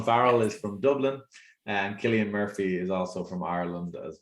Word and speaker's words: Cillian Murphy: known that colin farrell is from dublin and killian murphy is also from ireland as well and cillian murphy as people i often pronounce it but it's actually uh killian murphy he's famous for our peaky blinders most recently